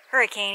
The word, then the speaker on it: Hurricane: I just walked through Hurricane Wash, but I actually did hit water. From what I understand, natives of Utah don't pronounce it hurricane, even though that's the way it's spelled.